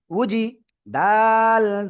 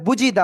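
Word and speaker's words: وُجِدَا: জিম জের জি উজি উজি দা জবরদা উজিদা উজিদা উজিদা উজিদা clear আলহামদুলিল্লাহি রাব্বিল আলামিন উজিদা অনেকেই বলে বুঝিদা বুঝিদা বুঝিদা বললে হবে না উজিদা আমার দিকে তাকান সবাই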